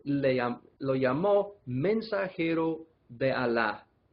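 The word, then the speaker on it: Allah: dios a la palabra alá en árabe es dios ahí se escribe a veces con una sola ley y a veces con doble l pero siempre se pronuncia como si fuera una sola eso a la en vez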